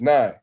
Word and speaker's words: Nija: Because I know some people, I know some women with the name like Nay, and they spell it Nae. You feel what I'm saying? So when I see that, I just be like, Nay. But it's Nye.